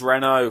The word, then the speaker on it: Renault: or whatever Renault sorry I pronounce it Renault because we had a Renault we had a ryal car um and we've always said Reynold and then you watch the sport and apparently it's Renault French company I know you